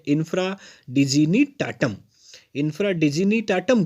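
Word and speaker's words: infra dignitatem: थोड़ा प्रोनाउंसिएशन ध्यान देंगे, ये है इंफ्रा डिजीनी टाटम।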